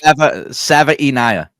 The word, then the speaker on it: Savaiinaea: Savaiinaea. I don't know how to pronounce it. But anyways. Savaiinaea.